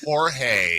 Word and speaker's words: Jorge: messed up the name oh it's horge I know not not Jory I know okay that's